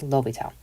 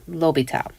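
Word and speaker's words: L'Hôpital: The silent S has been removed and replaced with a circumflex over the preceding vowel. Okay, which means this silent S is gone, and now they have that caret over the O.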